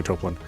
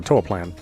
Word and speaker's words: Toaplan: scrolling beat him up by topan or TOA plan depending on how you want to pronounce it uh you are getar